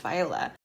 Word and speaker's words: Viola: the book and I was like, oh, it's Viola. The man is named Jesse. I remembered his name because I just looked at the sim that I named Jesse Andrews. Jesse Andrews and Viola Bowen are both video game developers.